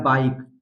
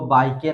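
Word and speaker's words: bike: में ई आता है तो वो वहां पर साइलेंट रहता है, फेस। इसी तरह है बाइक, इसको बाइके नहीं पढ़ा जाएगा, बाइक।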